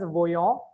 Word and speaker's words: voyons: This is pronounced as voyons and this is voyer.